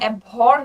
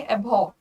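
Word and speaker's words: abhor: Pronunciation देखना यहाँ पे, एबहॉर में आर की आवाज नहीं निकालनी है। जब हम इसे बोलते हैं तो एबहॉर नहीं बोलते, हम बोलेंगे एबहॉर, आर is kind of silent.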